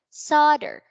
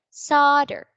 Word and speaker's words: solder: is it's pronounced as the stress is on the first syllable solder please repeat after me solder okay so it has